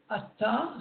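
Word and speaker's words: אתה: Vous constatez également que le premier mot du verset est avec un aïn et le 3e mot avec un aleph et se prononce ata, qui veut dire à présent. Tandis que ata, c'est le pronom personnel évidemment de la deuxième personne.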